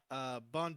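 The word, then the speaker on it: Banh: Bon Jovi? Jovi. I'm blue. Who's Bon Oh, Jovi? Oh, That's me. Rams. That's I right. love It's- that. It's spelled B-A-N-H, Jovi. Like bun me. It's no E.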